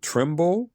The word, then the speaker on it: Trumbull: if I'm not mistaken, you're from Is it Trimble? Is that how you say it? Trim. Is it? Yeah. I I'm from around there. Yeah. Trumble.